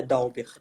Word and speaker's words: Dalbert: dalva é como eu pronúncia do seu nome é dalbert da uber o correto é da uber só que a minha